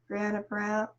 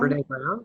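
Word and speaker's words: Brené Brown: And I can't think of who said it, if it was Brianna Brown, Brianna Brown, Brene Brown?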